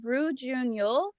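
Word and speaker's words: Ryu Jun-yeol: And I always have the hardest time pronouncing his name, but it's Roo Jun-yeol.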